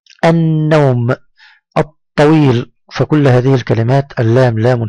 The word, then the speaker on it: الطويل: ثانيا أنها جاءت بعدها لام مشددة تنطق وكأننا ننطقها مرتين، اللون. مثلا كلمة النوم، النوم، الطويل.